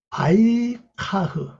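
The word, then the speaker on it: ויקח: 여기 바로 취하던 뜻이에요 바이 카흐 바이 카라고 발음합니다 그걸 취해서 그와 함께니다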